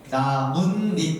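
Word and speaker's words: 나뭇잎: ' 나문 닙 ', 이렇게 요 . 나무 . 그렇다면 여기 서 무슨 일 이 벌어지는 걸까 요 ? 'n' 발음 이 두 개 나타납니다 .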